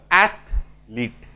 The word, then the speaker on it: athlete: यदि ठीक करिबा ताले बनान भी ठीक हबो एथलीट मन रहबो आमे साधारणतः कोन उच्चारण करि दो एथलीट ईटा पसियो माने सेठी